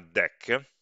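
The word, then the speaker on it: deque: un nome strano che si chiama deck scritto deco era pronunciato di solito è che la contrazione di double handed più cioè una coda con due estremità un deck una coda in cui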